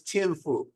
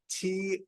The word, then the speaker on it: Tianfu: Could you please say the name and spell it for me? Yes, Tianfu. So surname, and his name was Tianfu, Tianfu.